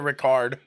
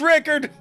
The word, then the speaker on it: Rickard: long i can't remember is it rickard or ricard okay i was saying it right good deal thank you it's rickard i got lucky i